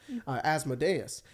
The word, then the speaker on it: Asmodeus: I almost said the not correct way to say his name, Asmodeus, and to help their business because they have like a business in Waterdeep.